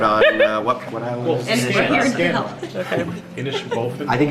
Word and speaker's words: Inishbofin: Inishbofin. I think it's just purgatory. It's Ma'am, how do you pronounce the name of the island? Inishbofin.